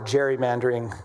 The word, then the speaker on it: gerrymandering: I was learned I learned how to pronounce that correctly is is uh the legislator from Massachusetts who uh gave rise to the word gerrymandering which is how we say it. His name was Gary. So gerrymandering, a nationwide gerrymandering war